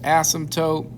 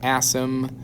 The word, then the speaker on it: asymptote: and it has that asymptote which is approaching zero i'll go ahead and write that again here for the vocab that p is silent it's an asymptote asymptote if i was graphing